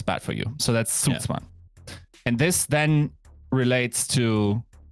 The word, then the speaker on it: Zugzwang: Why don't you just say it? Zugzwang. Okay. That's, Zugzwang. That's clearly how you say it. Zugzwang. Z makes a Z sound.